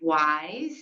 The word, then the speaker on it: WIIS: Women in International Security, pronounced wise, is a nonprofit, non-governmental